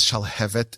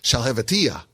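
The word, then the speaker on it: Shalhevetyah: people mispronounced the name the name of the book is shall have it yeah shall have it yeah which means the the flame of God and everyone would mispronouncing it shall have a TIA which means nothing which is just gibberish we all have a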